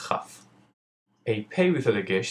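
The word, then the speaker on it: כ: A kaf with a dagesh sounds like I taught you, kaf, and the kaf without a dagesh is pronounced with a cha sound and is called chaf.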